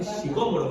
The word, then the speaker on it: sicómoro: Sí, sicómoro, ¿no? Porque tiene acento en la O, ¿no?